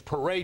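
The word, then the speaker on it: Peria: He came in, he says, how do you pronounce that new guy, our first draft choice, first name again? You guys, and it's Pariah Jerry, and you kind of knew that.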